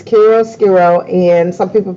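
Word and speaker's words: chiaroscuro: shadow carol scarole excellent job it is it's carol scarole and some people pronounce it quiero skiro oh i say cairo squirrel as well so um that is the the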